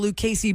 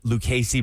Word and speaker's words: Lucchese: wedding party where he had to buy $900 Lucchese boots as a groomsman. The outfit alone was $1,700. They were telling me he As a had to buy groomsman- as a Lucchese groomsman.